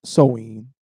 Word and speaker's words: Samhain: Samhain or Samhain is pronounced sow, as in female pig, Mm-hmm. ween, Right. the neutral vowel sound, Mm-hmm. not Samhain, Mm-hmm. because MH in the middle of an Irish word is what?